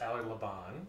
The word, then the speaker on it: Allard Laban: It's pronounced Allard Laban, yeah. But up until 2000, it was Allard Laban. Because my dad, at a certain point, was like, why are we pronouncing our name wrong? Because he had converted it to, sort of anglicized it when we moved from Holland in 1965.